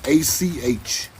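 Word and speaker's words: Ocmulgee: Achmulgee. So they spell it Achmogee to throw you off. It's Achmulgee.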